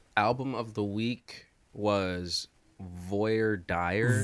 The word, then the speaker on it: Voir Dire: of the week was Voyer Dy V deer am V pronouncing that like an American I would believe I believe that it's V deer V deer yeah you